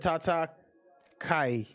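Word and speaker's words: tatakae: it's gabriel but uh i said tata kai that's how you say it i never watched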